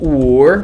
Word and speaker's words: were: Imagina uma pronúncia assim com acento circunflexo. Ó. Were. Repeat. Were. E a outra, where. Tipo um acento agudo. Where.